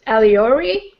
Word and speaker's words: Alyore: of your agent name oh okay did I pronounce it more or less correct yeah I kind of say it alori iori yes it's close enough okay uh yeah